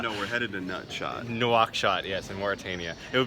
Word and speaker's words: Nouakchott: Nutshot. Oh no, we're headed to Nutshot. Nouakchott, yes, in Mauritania.